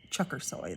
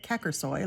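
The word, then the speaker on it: Çakırsoy: I do know that Daria Chuckersoy is pronounced Chuckersoy, though. For those of you that have been pronouncing it Kackersoy, like I used to, it's actually Chuckersoy. I heard a Turkish person pronounce it for me.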